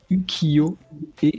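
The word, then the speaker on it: 浮世絵: Ukiyo et ça se prononce Ukiyo.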